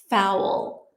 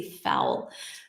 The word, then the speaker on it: fowl: You say fowl. Fowl like cow.